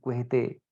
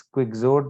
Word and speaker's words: Quixote: And the work that he wrote that literally took the European world by storm was Don Quixote, Quixote, written as Quixote but pronounced as Quixote.